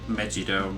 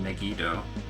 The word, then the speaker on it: Megiddo: Which is why I was pronouncing it like Megido rather than Megiddo.